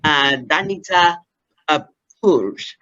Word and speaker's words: Danica Purg: Actually, she likes basically to recommend that we pronounce her name properly. Danica Purg from Slovenia, who will be speaking on the power of networking.